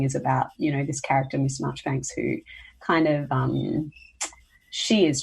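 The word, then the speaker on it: Marjoribanks: It's called Miss Marchbanks, but it's spelt Miss Marjorie Banks, but it's said Marchbanks, by Margaret Oliphant.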